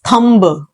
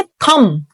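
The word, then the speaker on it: thumb: so many people pronounce it एज थंब थंब always remember B is silent B यहां पे silent है इसको हमने नहीं बोलना हम इसको बोलेंगे थम थम नॉट थंब the next one इज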